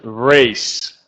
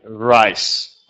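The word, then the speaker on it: raise: rise yeah very good remember had not rise but Race pay race that's when you have when you say it like this pay race and not like rice pay race yeah for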